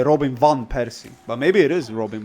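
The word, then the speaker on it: van Persie: Van is with a V, not a fur. And I don't know who that is. Of course you don't. You're not cultural. You're not a cultured person. So it is van Py.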